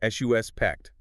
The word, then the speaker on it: suspect: When it is a noun, the person, you say, S-U-S-pect. The stress hits you right at the very beginning.